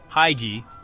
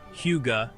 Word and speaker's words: hygge: Hygge, pronounced hygge, not hygge, is a Danish word for acknowledging a moment or feeling as cozy or special.